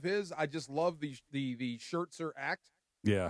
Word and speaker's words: Scherzer: And Max Scherzer was so new that he's mispronouncing his name. It's great. Scherzer? Scherzer. I like he threw a T in there That's for gonna, reasons that, it's Vin Scully stick.